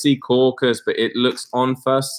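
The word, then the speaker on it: Secaucus: We know it's sea caucus, but it looks on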